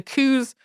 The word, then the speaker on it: Coues: which is named after Elliot cows, but most people say it Coues. So if you know about these deer and you think we've been saying his name wrong this whole time, the deer are technically also pronounced cows, but nobody really says it that way.